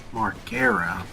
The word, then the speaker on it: Margera: Margera. Margera. How do you Do you know his name? It's Marger.